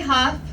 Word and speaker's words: Hough: I'm Hough. It's spelled H-O-U-G-H, like tough or rough with an H, because it's super tough to be a Democrat in South Carolina.